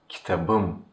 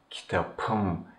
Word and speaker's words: kitabım: Just because the suffix begins with a vowel, the last P changes into B and our word becomes kitabım, kitabım, which means my book.